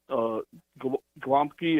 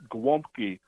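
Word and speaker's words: gołąbki: All right, yeah, I just wanted to tell Count Panic, it's not Glomky, it's Glomky. The L has a slash through the middle. You're right. Polish. You're right. That's pronounced W.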